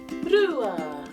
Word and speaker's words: rua: It starts with the sound r, ru, rua.